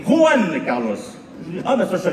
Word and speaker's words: Juan Carlos: Juan Carlos. On ne dit pas Juan. En Espagne, les J se prononcent re. On dit Juan Carlos.